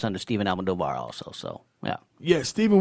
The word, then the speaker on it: Almodovar: Last name is Alm as in Mike, Od as in David, Ov as in Victor, Ar. No, that's a little long. 4 syllables. Almodovar. Pretty easy. But Puerto Rican.